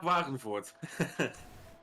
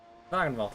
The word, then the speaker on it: Wagenvoort: So, I don't know if it's Wagenvoort or Wagenvoort. I'm going to say Wagenvoort. You'll know, Case. How do you pronounce his name correctly? Jaap Wagenvoort. Wagenvoort will do.